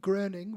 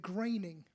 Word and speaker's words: Groening: and it looks like groaning would be in German. In America, they pronounce it graining.